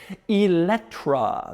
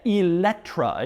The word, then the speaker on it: Eletre: and we start with its name which is pronounced eletra that's how it's said eletra in case you're curious this follows a tradition